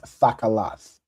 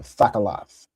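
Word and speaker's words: תכלת: Blue in Hebrew would be pronounced thakalath. All right. Thakaloth.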